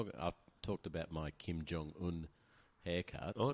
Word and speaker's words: Jong: It's jong. It's not yong. You say the J.